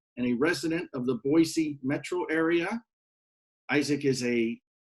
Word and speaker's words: Boise: It's pronounced with an S, not a Z. So Boise.